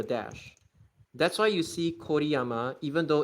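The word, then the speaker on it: Kōriyama: So yes, it's called co o yama. Basically for anyone that doesn't know in Japanese um o u o o and y u like basically something hu and then a u as well. they become U with a dash, O with a dash,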